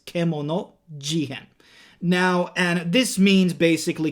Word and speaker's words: Kemono Jihen: than kemono jihan now some people are literally pronouncing it wrong like kamano jihan no it is kemono jihan now and this means